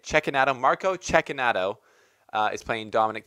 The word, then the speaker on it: Cecchinato: Italian followers, have taught me how to say Cecchinato properly. So I think I'm saying Cecchinato.